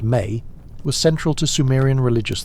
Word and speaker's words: me: The concept of me, pronounced May, was central to Sumerian religious thought.